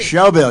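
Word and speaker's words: Shelbyville: gone with him for a bit John Tennessee she'll bill you said it right in the Shelby Oh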